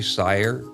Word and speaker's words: Seyer: But it's actually Seyer. Rhymes with fire. It's like Meyer, Bayer, and Geyer.